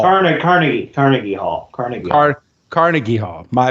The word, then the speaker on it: Carnegie Hall: concerts um two shows at car um um carnagey Hall car Carnegie Carnegie Hall Carnegie Hall Carnegie Hall my bad my bad